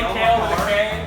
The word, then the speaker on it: Kale: you pronounce kale they call me kale i'm the other kale